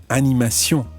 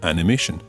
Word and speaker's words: animation: Try to stick to the French pronunciation and say exposition and not exposition, retransmission and not retransmission, and animation and not animation.